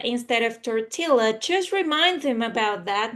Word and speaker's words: tortilla: They assume they don't have that uh sound. Exactly. You just said it. They assume. I I'm telling you, you don't have to assume that because they don't have that sound incorporated in their language with double L.